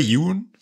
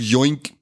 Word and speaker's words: Yeun: So heißt der Yeun. Habe ich es richtig ausgesprochen? Sag Joink. Joink.